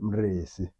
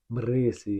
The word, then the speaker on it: Mrisi: Mrisi is the proper pronunciation. Oh, how do you pronounce it? Mrisi. Mrisi. Yeah, Oh yeah, wow, okay. yeah, Well, for those who didn't know, that's how you pronounce it.